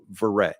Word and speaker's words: Verret: to spell that well there it is verret just like it sounds V as in Victor e r r e t when I was a